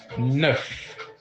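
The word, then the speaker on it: neuf: easy too super easy nine in French is ner Nerf NE e u f ner and finally fin 10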